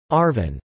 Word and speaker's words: ARVN: the Republic of Vietnam ARVN pronounced Arvin early on the focus